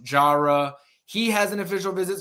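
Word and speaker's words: Jireh: Edwards it's spelled j i r eh it's pronounced Jara he has an official visit scheduled with Georgia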